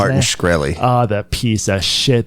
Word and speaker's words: Martin Shkreli: I can't remember how to pronounce his name. Martin Shkreli.